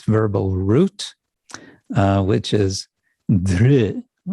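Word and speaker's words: धृ: verbal root, which is dhr. In Roman transliteration, it would be DHR with a dot under the R, retroflex r, dhr, which is hard to pronounce.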